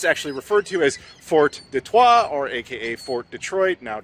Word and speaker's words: Detroit: It was actually pronounced very differently. It was like Detroit, something like that. And we're Americans, so we're like, Detroit.